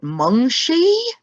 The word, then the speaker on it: Mungshi: Is it Mungshi? Yes, that's correct. Yes, wow.